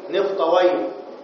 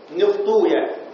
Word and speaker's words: نفطويه: سيبويه، نفطويه، درستويه، وفيها مدقان. سيبويه أو بالضم سيبويا. تمام؟ نفطويا، درستويا. فالمحدثون على الضم، يعني المحدثون لغة المحدثين يقولون سيبويا، نفطويا، درستويا. أما الأمويون فيفتحون الواو، يقولون سيبوي، نفطوي.